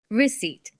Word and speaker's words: receipt: Receipt with a silent P.